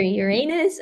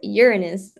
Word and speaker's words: Uranus: it's equal to 8.69 there's no right way to say that it's like it's either Uranus or it's urinous and either way it